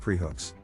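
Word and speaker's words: πραΰς: it up the term prow pronounced preh hooks which is used to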